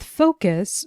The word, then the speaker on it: focus: With focus, we can hear that the stress is on the first syllable.